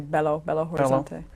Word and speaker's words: Belo Horizonte: Well, she's from, I hope I pronounce it right, Belo Horizonte, Brazil? Very close. I think they say Belo Horizonte.